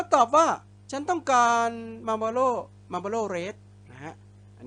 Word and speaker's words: Marlboro: นะ ครับ I want Marlboro Red ก็ มี ตัว R ตัว R นำ หน้า สลัด ตัว O O แล้ว นะ ครับ ต้อง หัน ลิ้น Marlboro Red Marlboro Red